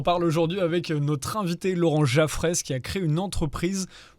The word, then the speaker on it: Laurent Jaffrès: J'ai bien prononcé, Laurent Jaffrès.